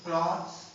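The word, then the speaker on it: clothes: जैसे इसका एक होता है क्लॉथ, तो क्लॉथ्स, एक होता है क्लोथ्स।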